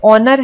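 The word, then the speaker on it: honour: तो वैसे आपको कुछ और वर्ड्स दिए गए हैं, जैसे ऑनर है, इसमें H साइलेंट होता है।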